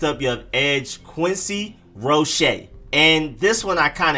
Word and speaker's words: Roche: quincy roche quincy rochet you emphasize the shade not the rose so it's quincy richey